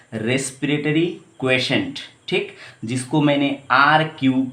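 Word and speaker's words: respiratory quotient: इसका प्रोनाउंसिएशन इस तरह से होता है, रेस्पिरेटरी क्वेशेंट, ठीक, जिसको मैंने RQ के नाम से दिखाया, ऐसे ही बुक में लिखा जाता है, ठीक है।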